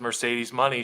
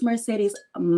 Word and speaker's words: Mercedes Moné: all the great stuff make sure you say it right it's Mercedes M okay Mercedes M thank